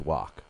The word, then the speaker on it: Wach: That's the correct pronunciation, Wach? You're asking the guy who's known worldwide for murdering everybody's name, but yeah, I think I got that one right. It's Wach.